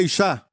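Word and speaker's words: איש: Mulher em hebraico é Ishá, porquanto do homem foi tomada. Homem é Ish.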